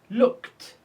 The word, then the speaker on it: looked: Looked, looked. We pronounce ed t because it's preceded by k sound.